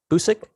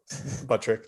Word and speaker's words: Buttrick: Trent Busick? Buttrick. There you go. Buttrick. Yeah. It's TT, not SS, right?